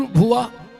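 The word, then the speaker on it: भुवः: अपन बोला ओम भूर भव स्वाहा तत्स वितुर्वेण्य इसमें एक शब्द कम पड़ रहा है। गायत्री का सही उच्चारण है ओम भूर भुव स्वाहा।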